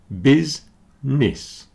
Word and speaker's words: business: very busy and dizzy business has two syllables and they both sound like the letter I busness okay the middle syllable doesn't do anything business as does